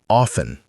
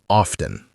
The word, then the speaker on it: often: She started saying often instead of often.